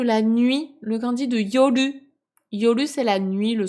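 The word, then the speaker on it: 夜: nuit, le kanji de yoru. Yoru, c'est la nuit, le soir, la nuit. Là, dans ce contexte-là, il se prononce yo, tout court.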